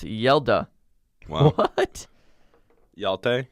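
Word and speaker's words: Hjalte: everyone in Denmark Oh its first name is pronounced yelled uh what y'all teh it's kind of that's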